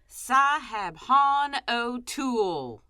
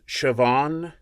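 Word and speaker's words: Siobhan: hands on yes sir what's a scoundrel name sahab o are are you sure that's how that's pronounced it's how it's spelled Shan what the name is pronounced shoban and why are you recording lines I never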